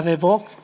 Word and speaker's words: de Bock: Y tenemos también a mi vera a Adriana de Bock, ¿se pronuncia así?